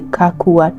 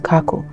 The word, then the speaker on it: Kako: And just for clarification, the Nubians in East Africa call it the Kakua tribe, but in this story it's pronounced Kako.